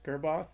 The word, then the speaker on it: Gerboth: So today I have with me author Chris Gerboth. Did I pronounce that right?